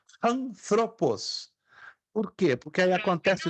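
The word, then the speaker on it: ἄνθρωπος: Por exemplo, a palavra que nós lemos aí, anthropos, ser humano, é pronunciada com som de H aspirado no início. Na verdade, eu falei de propósito errado, porque a pronúncia correta seria anthropos. Anthropos.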